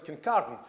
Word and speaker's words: Kincardine: The minor comment meant as an assistance rather than a chastisement is the pronunciation of the wind farms actually Kincardine.